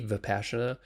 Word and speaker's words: Vipassana: that entry level, there's a meditation called Vipassana, spelled with a V, Vipassana.